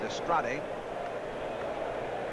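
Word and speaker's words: Dastrade: Pena in the spring calls his last name d-a-s-t-r-a-d-e pronounce destrate from Santiago Cuba and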